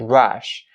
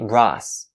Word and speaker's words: rush: Also, when it comes to this phrase's pronunciation, make sure you pronounce the sh sound at the end of the word rush. Rush. Please don't say Russ. Russ is wrong.